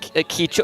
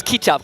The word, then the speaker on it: kicap: It's not kichup, it's kicap. Kicap means soy sauce.